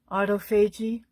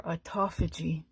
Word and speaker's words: autophagy: clean up um via something called autoagi or autophagy. I've heard it pronounced both ways.